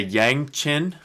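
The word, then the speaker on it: yangqin: are oriental instruments um it's a yang chin is how you pronounce that that's the the thing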